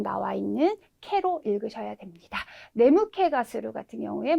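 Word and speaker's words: 眠気: 네무케가 스루 같은 경우에 뭐 졸립다라고 하는 의미로도 쓰실 수 있으시니까요. 네, 캐라는 발음도 꼭 기억을 해주시고요.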